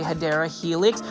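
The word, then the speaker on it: Hedera helix: many times I say hadera Helix which is the correct way to say it or English ivy this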